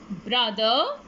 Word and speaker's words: brother: table cable fable other brother mother kids do not pronounce the letter r other brother mother one